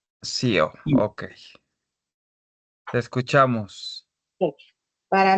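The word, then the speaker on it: Xeo: No sé cómo se pronuncia. Es Cheo. CEO. Es X e O. Sío, sí.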